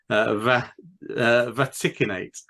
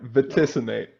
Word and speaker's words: Vaticinate: Vaticinate. Not quite. Vaticinate.